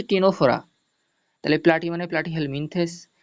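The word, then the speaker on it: Ctenophora: টেনে বলতে টিনোফোরা, এই দেখো এই যে লাস্টের একটা ওয়ার্ড সিটিনোফোরা বলি না যেন, ওটাকে ওর উচ্চারণ সি উচ্চারণ হবে না, সি উজ্জ থাকবে, তাহলে ওটার সঠিক উচ্চারণ হচ্ছে টিনোফোরা।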